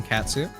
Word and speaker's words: Catsu: The D in Catsu is silent, much like my own.